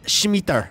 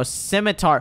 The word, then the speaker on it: scimitar: actually be useful and I think it's pronounced blazing Scimitar blazing schmeer no simitar why did we extend this